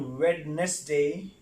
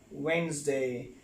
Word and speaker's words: Wednesday: It's not Wednesday. The correct word is Wednesday, not Wednesday, right?